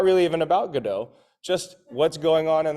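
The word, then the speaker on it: Godot: known for waiting for gdau waiting or as the British say GD uh waiting for gdo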